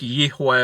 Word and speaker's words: Yahweh: Yahweh, you know, people say that his name's Yahweh because his name's Yah. When Hebrew, words change. Words change. So just keep that in mind. So I think Yahweh would be a more accurate pronunciation.